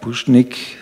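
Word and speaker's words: Pušnik: Wie mein Name schon sagt, Puschnik ist ein typisch Vorarlberger Name. S mit Hatschek schreibt man.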